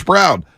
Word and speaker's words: Braun: They say it's spelled Braun, but they call him Brown.